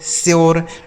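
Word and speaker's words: sure: यू के बाद अगर आर इ लिखा हो तो यो का उच्चारण जैसे क्योर प्योर श्योर door more.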